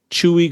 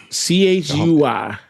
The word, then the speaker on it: Chuy: Did you say Chewy? Hey, listen, that's when I looked up and researched this, it's CHUY. And I could be pronouncing it wrong.